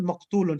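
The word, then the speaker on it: مقتول: So you just add meme in the beginning, Yes. and the second letter will become silent. So qaf is silent. Yes. The ayn will be given, the ayn which is the ta will be given a dhamma, and you add the waw, so become maqtu, and the lam with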